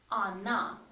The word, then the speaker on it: она: If we have O in the word, but O is not stressed, you see, A is stressed. So when we pronounce in the speech, we don't say O, we say она. Yes, we write O, but we pronounce A.